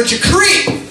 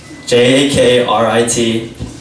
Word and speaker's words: Jakrit: J-A-K-R-I-T. It looks like Jakrit, but it's pronounced Jakrit.